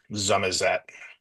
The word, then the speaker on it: Somerset: This is specifically a Somerset accent. Zumat, as it would typically say.